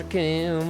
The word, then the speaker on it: Raccoon: Name is Raccoon, it rhymes with doom, and you're gonna be hurting all too soon.